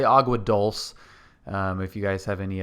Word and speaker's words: Agua Dulce: I keep wanting to say Dolce because that's how you'd say it in Italian, but it's not Italian. So we'll say Agua Dulce.